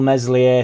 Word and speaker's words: Meslier: I think the cell meslier silent s in January get rid